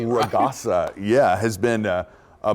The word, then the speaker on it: Ragasa: Uh, Ragasa. Raasa. Typhoon. That's how you say it. Raasa.